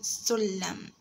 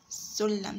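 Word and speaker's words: سلّم: You say sulam, sulam. So you can find that we pronounce the letter twice.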